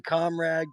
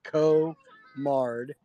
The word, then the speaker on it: Komard: yeah you know honestly people call me comrade komard komard um but the correct pronunciation is co-mard um so I Saw